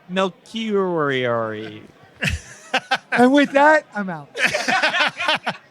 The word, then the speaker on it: Melchiorri: Melchiorri.